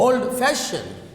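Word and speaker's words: old-fashioned: Example, old fashioned. Old fashioned. Okay, the stress is on, for compound adjectives, the stress is on second part.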